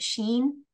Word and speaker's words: Shein: shopping on, I think it's called, is it Shein? Is that how you pronounce it?